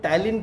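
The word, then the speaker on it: Tallinn: पहले जानिए कि जो टैलिन कैपिटल है, टैलिन तालिन जैसे भी आप बोलते हैं, ठीक है, प्रोनाउंस करते हैं, उससे फ़र्क नहीं पड़ता है।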